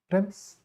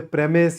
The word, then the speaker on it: premise: In the singular form, you can call it a premise, you can call it a premise, both are acceptable. Premise is the original pronunciation, premise is a more contemporary take on that. But in the plural, we always pronounce it as premises because premises refers to a building.